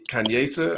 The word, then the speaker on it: Kanyesa: And then we got Kanyesa. I think I'm saying your name right. Yes, you said it She right.